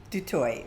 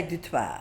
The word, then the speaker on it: Du Toit: Did I pronounce that right? Du Toit. Du Toit, Du Toit. Such a beautiful name. The French would say Du Toit.